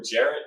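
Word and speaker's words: Gerrit: Garrett, okay. I thought I heard someone trying to pronounce it about it.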